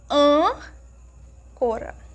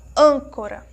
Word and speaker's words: âncora: Quando nós pronunciamos a palavrinha âncora. âncora. Então, quando nós pronunciamos a sílaba an, nós percebemos que é um timbre mais fechado, é um som assim mais para dentro.